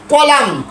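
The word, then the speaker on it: column: এল ইউ এম এল ইউ এন এন এন কলাম কলাম মূলত কলামুন হওয়ার কথা ছিল কলামুন না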